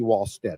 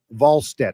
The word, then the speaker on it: Wallstedt: Wallstedt, according to Jesse, not Wall. I keep saying Wallstedt because that's how it's spelled. I think. Is it a V at the front? It sounds like it's a V pronunciation.